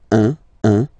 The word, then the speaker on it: un: All right, so when you combine this u and n, you get the nasal sound un, un.